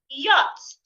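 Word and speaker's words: yacht: yes yday not yesterday stay yach not yet the C and H in this word are silent y not yet say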